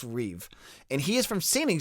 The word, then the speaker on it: Rueve: one is matt reweave it's r-u-e-v-e but it's pronounced reeve and he is from